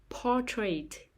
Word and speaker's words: portrait: modern music modern music portrait portrait the stress is on the first syllable portrait portrait exhibition exhibition